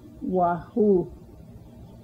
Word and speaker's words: wahu: Wahu. Wahu. Note the stress on the second syllable of wahoo.